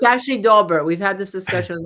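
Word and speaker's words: Daubert: instead of I think right instead it's actually Dober we've had this discussion with Michael I appeared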